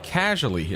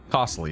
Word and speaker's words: Costly: Hey, uh uh uh casually uh is it is it casually? What's your strat? Come. I'm sorry. What's Are you saying I'm mispronouncing your name? Is it costly? Costly. Not casually.